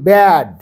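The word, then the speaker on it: bad: বিএডি ব্যাড, ব্যা, এই ব্যর উচ্চারণ হয়, সেটা গুরুত্বপূর্ণ।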